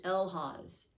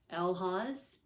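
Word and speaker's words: Algiz: Pronunciation is Elhaz, and it seems like it's an A because it's spelled A-L-G-I-Z, but the pronunciation is Elhaz.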